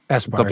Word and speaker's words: Aspire: So for instance, if you now use the well-designed framework, is it Aspire? Do I say it correctly? Aspire, yeah.